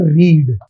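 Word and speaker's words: read: इसको हम बोलते हैं रीड और इसको बोलते हैं रेड।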